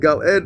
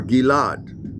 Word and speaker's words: Gilad: And Gal ed, of course, is the name of a region here in Israel, or Gilad, in the more original accent or pronunciation.